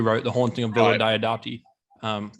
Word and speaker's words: Diodati: I'm hoping that I'm manifesting that Maxine Alderson, I think that's the name, who wrote The Haunting of Villa Diodati.